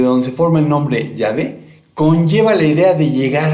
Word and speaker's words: Yahvé: Basándose en una tradición no lejana, los masoretas insertaron las vocales de Adonai en el tetragrama sagrado para que se pronunciara Jehová, de ahí la traducción Jehová. Sin embargo, es muy probable que se pronuncie simplemente Yahvé, con énfasis fonético en las consonantes y no en las vocales.